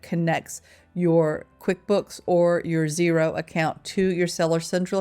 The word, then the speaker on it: Xero: Xero, and that's spelled zero with an X, is absolutely fantastic, and it is available for Australians and the US.